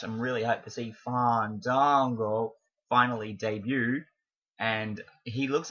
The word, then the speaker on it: Fandango: It's Fandango. I believe that's how you say it. You have to let the A's breathe, apparently.